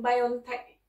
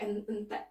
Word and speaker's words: BioNTech: Jadi bacanya Pfizer and BioNTech, buatan Jerman ya teman-teman. Jadi bukan Pfizer dan BioNTech buatan Amerika. Itu di berita-berita di YouTube Indonesia itu ya. BioNTech katanya, Entech pula.